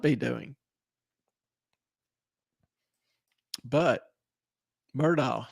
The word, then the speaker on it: Murdaugh: I see a lot going on for Ellen's not on now, so I'll pronounce it correctly, Murdaugh.